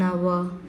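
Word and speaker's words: hour: uh another examples on our our h o u r our so HR here also H silent letter and it gives oval sound so we have to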